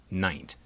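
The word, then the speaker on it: nint: assigned an exception pronunciation instead of being pronounced like its neighbors lint or mint n-i-n-t was pronounced like pint so this exception was pronounced night this exception therefore has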